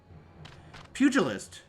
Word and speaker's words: pugilist: in a cut scene I'm I'm Googling a pronunciation guide here pugilist oh pugilist was not expecting that you sound